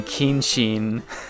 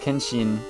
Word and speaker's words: Kenshin: So, his name is pronounced Kenshin. Like, I guess I might have emphasized the e a little bit too much.